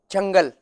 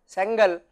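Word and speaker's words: Çengel: Actually you may feel that I should be pronouncing it as Sengal, but actually this is an Israeli name. There is a small tilde here sitting in the denominator, so that is what makes it called as Chengal.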